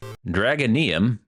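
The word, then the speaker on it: Dragonyhm: as your local GameStop dragonium again that's how I think it's pronounced is a welldone love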